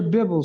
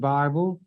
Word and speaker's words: Bible: together that's what your Bibble says come let us reason together I'm not mad at you because you mispronounce it Bible and you're going to be mad at me because I pronounce it correctly Bibble excuse me